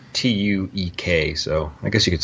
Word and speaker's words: Tuek: I think I'm pronouncing that correct. So, and they're having a meeting in Tuuk's office. And the audiobook, I think I say Tuuk. Tuuk? Okay, Tuuk. Mm-hmm. Yeah, it's a strange. It's Tuek, so I guess you could say Tuuk.